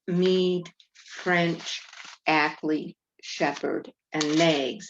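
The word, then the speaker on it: Knaggs: french ackly shepherd and maggs that's spelled with a k k-n-a-g-s so how did these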